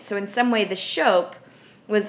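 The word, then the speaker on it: scop: Anglo-Saxons each tribe also had a Shope it's pronounced Shope an engl-x and oral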